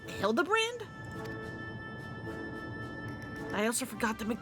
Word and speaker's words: Hildibrand: Since parting ways, I've searched every alley in Daar and Ever for signs of this filigrand character. It's pronounced Hilda brand.